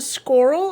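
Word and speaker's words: schorl: This is the squirrel. I'm not sure I'm pronouncing it right. It's spelled S-C-H-O-R-L.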